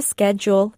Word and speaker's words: schedule: It's a schedule in American English.